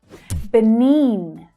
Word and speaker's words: Benin: Benin. Again, hear that long vowel sound in the second syllable. Benin, Benin. It's unusual for the letter I to be pronounced like that, but here we have it.